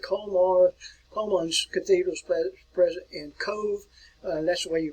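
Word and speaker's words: Cobh: Colman's Cathedral is present in Cove. That's the way you pronounce this town here. It's pronounced as Cove.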